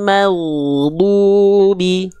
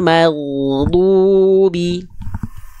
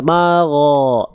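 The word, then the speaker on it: مغضوبِ: Ghairil maghdubi. Sedikit lagi, masih ada magho, tapi maghdubi.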